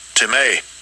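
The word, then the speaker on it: τιμή: Let's see how you pronounce it. Strong's G 5092. Timay.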